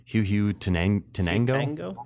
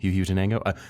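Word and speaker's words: Huehuetenango: I'll spell it for those who want to pause and listen. It's a HUETENANGO. Huhutenango? Huhutenango? Huhutenango actually sounds Perfect.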